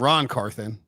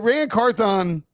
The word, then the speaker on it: Ran Carthon: I mean, that's a tricky pronunciation one though. Because Carthon sounds like Ron, and then but Ran Carthon.